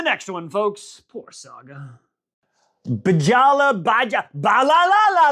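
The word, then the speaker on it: Bjalla: for Greylocks, aka BJ Bajala. His name is spelled, don't laugh at me, B-J-A-L-L-A. Some of those letters are silent.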